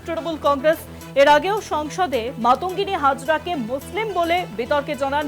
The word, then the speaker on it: মাতঙ্গিনী: কুচকাওয়াজে মনীষীর অপবাদ সেখানে মাতুঙ্গিনী হাজরার নাম উচ্চারণ ভুল করলেন সঞ্চালক মাতঙ্গিনীর জায়গায় মানতাগিনী বললেন সঞ্চালক বাংলার বনীশীর অপমানে সরদ